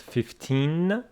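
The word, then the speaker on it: fifteen: this one is pronounced 15 with the stress on the second syllable 15 and that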